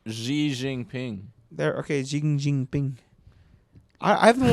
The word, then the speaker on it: Xi Jinping: election for another term you'll know that that's not how you pronounce that Zing ping Oh I thought people called them Winnie the Pooh yeah if I don't say that we're gonna get demonetized you know when I found out it's like Xi Jinping there okay I I've